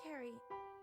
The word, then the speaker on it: Kiri: It's pronounced Carrie, like a K. Sorry, my bad. Don't worry. Kiri.